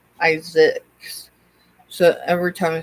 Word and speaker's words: Isaacs: I've got family members that are Isaac, have the Isaac last name, but it's pronounced Isaacs.